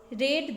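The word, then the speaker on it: read: story तो Jason पढ़ा रीड की सेकंड फॉर्म के रूप में यहां रेड यूज किया गया है हालांकि ये स्पेलिंग सेम होती है लेकिन इसकी प्रोनंसिएशन चेंज हो जाती है तो जेसन ने पढ़ा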